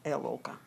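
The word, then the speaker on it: ElOrKah: She spells it as Lorca, L-O-R-K-I-A-H, which is actually pronounced as Elorca. Is there any significance with the triple-barreled names? Like your name is Alorca and you spell it capital E-L, capital O-R and capital K-A-H.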